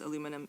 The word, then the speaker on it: aluminium: Aluminium, by the way, is the preferred name in uh or name and pronunciation in British Commonwealth English. It's the same thing as aluminum in American English.